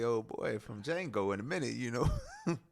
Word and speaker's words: Django: I'm about to be like old boy from Django in a minute, you know. The D is silent.